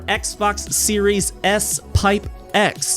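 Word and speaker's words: Xbox Series S|X: also compatible with your Xbox series s pipe X and why do I say pipe because that's how you pronounce that character it's the pipe character which has virtually no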